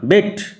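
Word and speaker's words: bête: বেটে নয়, বেট।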